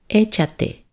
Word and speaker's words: Échate: Échate. And remember, and on this one, échate has an accent on the E.